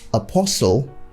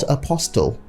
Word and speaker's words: apostle: bombing soften not softened apostle not apostille so you know the t's in this word are all silent so you keep them silent and pronounce them how they should be soften apostle and finally we have